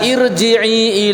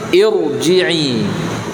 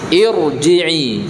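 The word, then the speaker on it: ارجعي: Jadi kalimat irji'i di situ walaupun secara bacaan dibaca kasroh, tapi karena di situ hamzah wasol maka dibaca tebal. Jadi jangan dibaca irji'i ila rabbiki, enggak, tapi dibaca tafkhim, irji'i, irji'i.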